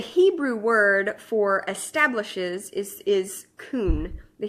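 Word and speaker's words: כון: word for establishes is kun the Hebrew word kun I think I'm pronouncing that right kay you in and it's translated in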